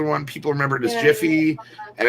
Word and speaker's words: GIF: moving picture oh yeah it's supposed to be pronounced jiff but everybody does it with a hard g get it which is